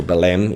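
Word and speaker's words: Belém: tower of the lime and the lime is pronounced by lime is written by v-e-l-e-m so belem in spanish would be say uh so like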